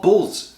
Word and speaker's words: Bulz: For today, I'm going to be making a Romanian dish called Bulz. And it is, yes, like it's pronounced very similar to bulls, like the animal, plural, you know, not singular.